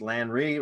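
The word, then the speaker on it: Lanri: It's pronounced LAN-RI, as in Rio.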